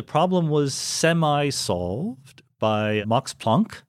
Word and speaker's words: Planck: And the problem was semi-solved by Max Planck, whose name I insist on pronouncing in the Germanically. Way he would have pronounced it, even though I don't say Einstein, so I'm not consistent.